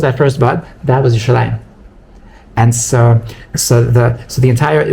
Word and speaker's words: Yerushalayim: So if you think about the word Yerushalayim, it rhymes with like a bunch of other words, like Nalayim and Shumayim and Grabayim and Mechnasayim and Oznayim and Inayim.